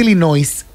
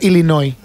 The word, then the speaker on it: Illinois: Yo te voy a decir, por ejemplo, que no se dice Illinois. Ok. Y se dice Illinois. Illinois.